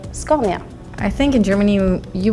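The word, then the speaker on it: Scania: a lot of Melody so in Sweden we would say sconia I think in Germany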